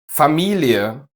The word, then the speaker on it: Familie: Basically e followed by a schwa. Serie, Studie, Familie, Folie, Arterie. But watch out, the following ones are just pronounced with the long e.